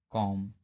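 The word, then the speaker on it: comb: एम के बाद यदि बी आता है तो बी साइलेंट होता है। जैसे कॉम, बॉम, थम, डम।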